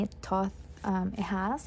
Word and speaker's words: Thoth: notice that they do have like it's actually pronounced as Thoth, the Thoth feel, and I googled that.